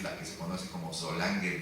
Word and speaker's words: Solange: Mucha gente las pronuncia Solange, como si fuera en francés, pero la palabra es en alemán, es Solange.